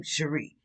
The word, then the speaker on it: Shomri: looked it up i said how do you pronounce it and that's how i said it elohim sheree which means god my defender god my protector